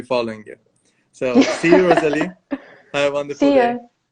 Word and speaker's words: Roselie: Is it right, the pronunciation, Rosalie? Yeah.